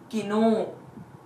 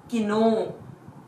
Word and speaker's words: きのう: bubble at the end the word would be pronounced as Kino Kino day before yesterday oh ii ii ii ii